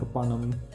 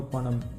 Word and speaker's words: Fanam: Phanam or panam, that's like completely okay to say because both of them are like same, it's just the pronunciation difference.